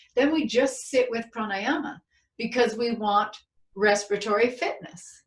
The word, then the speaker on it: pranayama: And the last thing I want to say is the Sanskrit word for breath practice is pranayama.